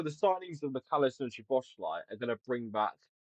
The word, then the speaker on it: Szoboszlai: they're gonna try suck your cock for the pronunciation of Szoboszlai. It's easy Szoboszlai.